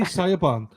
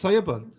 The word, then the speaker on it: Siobhan: Yeah, I used to say Saban. Yeah. What the That's not That's Siban.